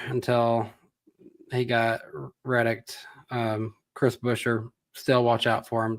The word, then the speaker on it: Buescher: He always used to say it like Buescher, like Bueller. Buescher. That's what I like. It's more James Busher. I always thought it was pronounced like Busher.